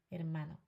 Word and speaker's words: hermano: Hermano. Okay. Okay. Oi. The H is silent.